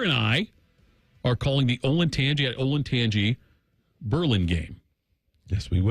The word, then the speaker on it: Olentangy: It's Olentangy.